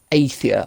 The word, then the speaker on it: Athia: Project Athia, I believe it's pronounced.